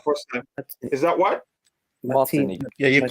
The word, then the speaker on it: Martinique: Martinique. Yeah, you're correct. You pronounced it right.